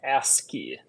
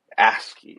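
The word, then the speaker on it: ASCII: know how to say I've never know how to say asci I I how do you say it a axi my understanding is asky asky okay so it creates an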